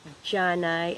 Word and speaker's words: dyanay: When I was small, I used to pronounce it Janay and spelled with a J until I understood what it really meant.